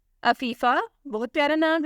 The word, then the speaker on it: Afifa: तो पहला नाम है अफीफ़ा। बहुत प्यारा नाम है, स्पेलिंग है AFIFA।